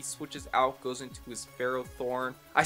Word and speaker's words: Ferrothorn: up as he switches out goes into his phro Thorn I said it right that time yes so